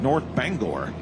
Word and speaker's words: North Bangor: This is the 4th generation 9,500-pound limited pro stock from North Bangor, New York. Did I say it right? Yes, sir, you did. All right, North Bangor.